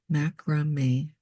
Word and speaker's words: Mak-Rah-Mee: So we have M-A-K, Mac, Ra, R-A-H, and then M-E-E, Mak-Rah-Mee. Or you might pronounce it Mak-Rah-Mee.